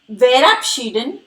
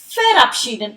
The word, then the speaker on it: verabschieden: Here, you must have observed verabschieden is with V, but I am not pronouncing it as verabschieden, rather verabschieden. It is because the alphabet V is pronounced as found in German.